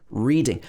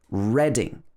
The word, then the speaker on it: Reading: reading if you're reading a book we would pronounce this as reading but with a capital r when we're talking about the name of the place it's pronounced reading reading so a lot of people who come